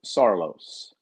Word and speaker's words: Saarloos: Kirk's correct pronunciation of his last name is what? Kirk Saarloos. Sarlo. Saarloos.